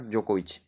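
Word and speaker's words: Djokovic: हमारे एनडीए के कैडेट्स, यानी कि नोवाक जोकोविच। नोवाक जोकोविच, जोकोविच में डी साइलेंट है, बट आपको याद रखना नोवाक जोकोविच।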